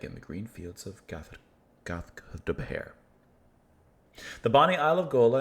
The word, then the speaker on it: Gaothdobhair: Gaothdobhair. Like, she said it almost in 2 syllables, while I'm saying it in several. Gaothdobhair. Gaothdobhair.